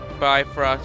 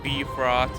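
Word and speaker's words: Bifröst: and we have asgard by frost or b frost to some pronounce it midgard which is the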